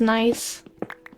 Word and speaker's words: gneiss: Back when I didn't know how to pronounce nice.